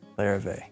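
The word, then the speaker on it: Larrivée: How do you pronounce this? This one? The Larrivee? Larrivee.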